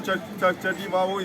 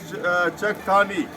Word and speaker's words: Chakthani: The name of the land is Chakthani. So just next to Kajra is Chakthani. Chakthani, the land belonged to the people of Kajra. So Chakthani is mispronounced as Chativavo and Kajra mispronounced as Jagoda.